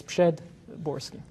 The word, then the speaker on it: Przedborski: And so if you want to pronounce it in a phonetic manner, it will be, and then Borski, it's easy. So it's Przedborski.